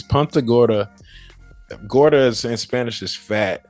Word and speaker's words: Punta Gorda: that um but okay Punta Gorda is that how to say that like punt Punta Gorda hey I learned I just learned how to say it it's Punta Gorda gordas and Spanish is